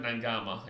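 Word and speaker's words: Naiqama: held up uh yeah because Q in Fijian is like an NG right so it's like Nina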